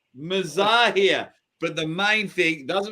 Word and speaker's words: Mazahir: before the show started, for years, we've been saying his name wrong. I've been calling him Mazahir, and it's pronounced, how is it pronounced? Mazahir. Mazahir.